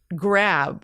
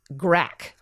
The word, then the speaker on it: grab: She thought the word grab was pronounced grack.